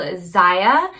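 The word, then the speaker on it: Zyia: is definitely one to know and it's called ziya so it's spelled z-y-i-a it's xayah active and the logo is like a little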